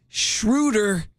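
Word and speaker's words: Schröder: been telling my friends shrewder is neuter I said it Rhymes Sher is neuter I'll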